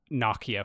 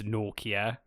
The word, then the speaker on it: Nokia: but we call it Nokia back home. So I'm covering my ass Mhm. before someone says, "You said it wrong." I know. It's Nokia? It's Nokia, yeah.